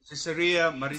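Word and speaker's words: Caesarea: the first day was to Terry and Galilee cesarea that's how you pronounce it and father what's the significant of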